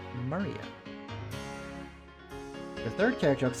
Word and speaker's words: Maria: That is pronounced Maria.